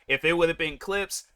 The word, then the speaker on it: Clipse: If it would have been Clips, I feel like the E wouldn't have been there. Then I would have called it Clips. But yeah, I'm not going to tell these guys how their name is pronounced or how it needs to be spelled and all this other stuff. It's Clips. But yeah, you know, you